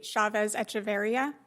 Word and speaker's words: Chavez-Echeverria: I believe it's Jesse Chavez Echeverria.